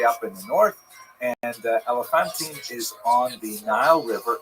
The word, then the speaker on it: Elephantine: remarkable discoveries in the interesting Jewish community of Elephantine, sometimes pronounced Elephantine.